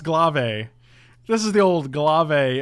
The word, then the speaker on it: glaive: ouch correct correct correct it's pronounced glave this is the old